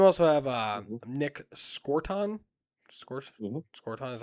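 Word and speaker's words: Scourton: Scorton is how you say it.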